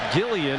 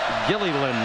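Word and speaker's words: Gilleylen: But Holly Rowe saw his dad today before the game, and he said our family name is pronounced Gilliland. That L at the end is pronounced.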